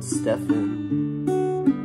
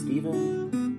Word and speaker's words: Stephen: But there are complications with Steven, because my name is spelled S-T-E-P-H-E-N, and inevitably I'll be called Stefan. And my name is not Stefan, it's Steven.